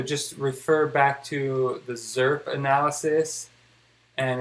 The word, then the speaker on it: XRP: zurp which now since one other person called it zurp which is just pronounced that's how you pronounce xrp to me eddie